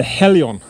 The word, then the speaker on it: Helion: a little bit strange but this is the Helion that's how you pronounce it the Helion extendable long reach header it's not extendable but